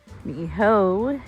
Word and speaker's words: Niihau: Now, as you look out to that sky, Niihau is out there. That's proper pronunciation.